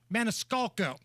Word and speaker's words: Maniscalco: to give away tickets to go see Sebastian Maniscalco you said it right thank you great comedian